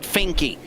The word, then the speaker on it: Finke: pinky that was right you have to say the e that is is pronounced in in his name scott finky but it wasn't scott finks got finky like stinky finky well stinky is the